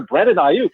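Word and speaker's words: Brandon Aiyuk: And it's a player, Brandon Ayuk. It's spelled AIYUK.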